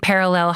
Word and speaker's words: Perelel: That's VICTORIA-GIOIA and Perelel Health with one L. I always spell it with two, but it's PERELEL Health.